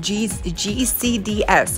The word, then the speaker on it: GCDS: Oh, and it's pronounced GCDS. I forgot one letter.